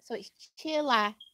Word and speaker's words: chilaquiles: The Q-U sounds like a key, Ryan. So it's chilaquiles.